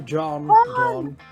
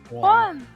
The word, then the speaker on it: Juan: You're talking to John. Juan! Juan, the small. Well, it's not pronounced Juan.